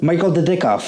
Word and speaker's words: Michael Dudikoff: Was his name Michael Dudikoff.